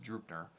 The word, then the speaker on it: Draupnir: It's Draupnir, and somebody told me it's pronounced Draupnir.